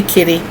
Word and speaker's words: Kitty: been asked the question how to say my name it's simply Kitty I use the last